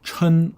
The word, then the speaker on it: 称: Now, another pronunciation is 称. Now, 称 is a verb, so when you use it as a verb, you want to pronounce it as 称.